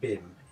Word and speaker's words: Wim: It occurs to me that if what Wim is saying is true, that actually I think I'm saying his name wrong, it's more like, should be pronounced more like Bim, it's a Dutch name.